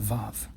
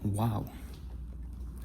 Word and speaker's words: Vav: In modern Hebrew, they call it Vav. But in the chosen pronunciation of Hebrew, it's called Wow. Wow.